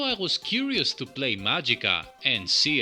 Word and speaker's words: Magica: was curious to play magicka and see how it translated to 16-bit land disclaimer i know that this is pronounced magicka judging from the sampled speech in the game but after the excellent